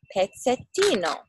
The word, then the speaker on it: Pezzettino: and one day he decided to find out Piketty know in italian means little piece it's pronounced Peck said Dino sheep it's hakuna where is he look look